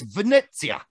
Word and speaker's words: Venezia: Dude, I looked it up just to make sure. I am right. It's Venezia. All right, that's how it's properly pronounced.